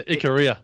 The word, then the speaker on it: Ikaria: Ikaria? Is that how you say it, Mark? Ikaria. Yeah, Ikaria. Ikaria. Oh, cool. That's the one.